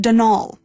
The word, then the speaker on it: Donal: not Donald mind you there's no D at the end so it's pronounced dnal that's the way you're